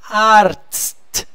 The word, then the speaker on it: Arzt: Arzt. Gente, separa. Vamos falar ar e depois tst, tst, tst, tst, tst, tst, tst.